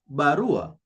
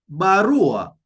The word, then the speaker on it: barua: A letter, we say barua. If you listen to how I'm pronouncing the word barua, you see, barua, I'm stressing on the second last syllable, which is r.